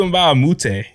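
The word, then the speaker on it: Mbah a Moute: So at my 4, go ahead and give me Luka Mbamute. Luka Mbamute, I love it. He was so good. Classic role Mbamute.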